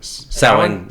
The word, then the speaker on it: Sawan: Sawan. Yeah. Sawan. He told me before I had to show how to pronounce it.